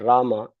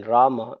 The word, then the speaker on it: Rama: words is also important the sh a in har Krishna and Rama is closed black in but the long a in Rama is open like in far this contrast should be clearly heard the e in har